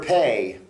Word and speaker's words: פ: is uh a mouth okay uh the letter pay is spelled pay olif um if you're using it